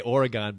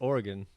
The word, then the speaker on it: Oregon: coming in from Oregon I want to say Oregon but you it's it's wrong right it's Oregon damn it see that's right I'm sorry it's hard people in the East don't know how to pronounce Oregon right and uh he's an